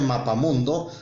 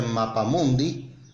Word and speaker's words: mapamundi: marta no se dice mapa mundo si no se dice mapa mundi si refiriéndose al mapa